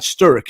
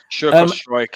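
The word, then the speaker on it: Struijk: would be the lad Sturrock. Is that his name, Sturrock? Sturrock? Is that pronounced Sturrock? Strike, something like that.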